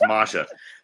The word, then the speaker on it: Masha: put masha uh masha i always say she's like don't say my see i do i say it wrong i say it wrong it's masha you want to put